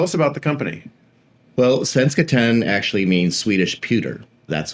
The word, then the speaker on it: Svenskt Tenn: Svenskt Tenn, yeah.